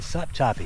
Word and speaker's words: Sopchoppy: That's right, Sopchoppy. Sopchoppy, Florida. I think it's pronounced Ochlockonee.